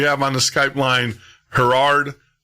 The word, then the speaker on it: Gerard: Gerard.